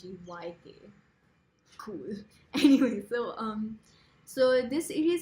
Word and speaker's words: Magyk: But the first book is called Magic, and it's spelled with a Y, like Magyk.